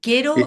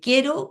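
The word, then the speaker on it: Q'ero: Si tú pones en YouTube, eh, quiero que se escribe Q comillas e r o sin la u, eh, te van a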